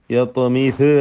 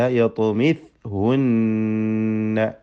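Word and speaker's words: يطمثهن: Miss ഹുന്ന, സാഇൻ്റെ സുക്കൂന് ചലിച്ചു പോകരുത്. മീസ് യത്മിസ് ഹുന്ന പറയരുത് കേട്ടോ. യത്മിസ് അല്ല, യത്മിസ് ഹുന്ന.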